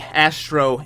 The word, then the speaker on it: Azztrro: Oh, by the way, you could pronounce it Azztrro, as Azztrro, so Azztrro?